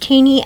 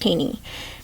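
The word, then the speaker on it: Thoene: Prelude by Bodie and Barack tany that is pronounced teeny I know it looks phone but it is pronounced teeny and um I I want to read this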